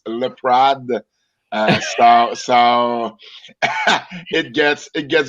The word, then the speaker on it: Laprade: those who are wondering my last name is pronounced le prod so it gets it